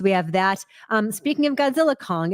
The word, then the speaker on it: Godzilla x Kong: It's Godzilla Kong. The X is silent.